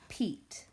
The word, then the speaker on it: Pete: Pete. So capital P. E-T. Pete. That silent E on the end makes that E say E.